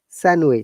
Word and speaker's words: sandwich: you need to know that d is not pronounced like sandwich ok some sandwich sandwich we said sandwich but not sandwiches sandwich sun wish yes and also any